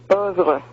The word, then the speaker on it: oeuvre: Zappa indicated ecological concern in his oeuvre as early as 1969, titling a guitar. What? No, not coming through. Oeuvre? Ovid. Love. No. Are you saying oeuvre? No, it's not oeuvre, it's oeuvre.